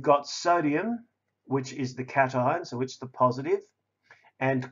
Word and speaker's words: cations: charged particles called cations I know it looks like patience but it's actually pronounced cations and negatively charged ions